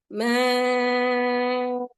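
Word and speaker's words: ماء: We still have to say bina'a, ma'a, nida. Okay, we have to stop in that way. It's not nida or ma.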